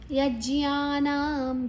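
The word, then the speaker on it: ಯಜ್ಞಾನಾಂ: ಕರಕಾರವನ್ನ ವಾದ ಮೊದಲೇ ತಗೊಳ್ಳುವ ಯಜ್ಞಾನಂ ಜಿ ಮತ್ತೆ ಜ್ಞ ದೀರ್ಘ ನ ಆದ ನಂತರ ವಿಸರ್ಗದ ಉಚ್ಚಾರಣೆ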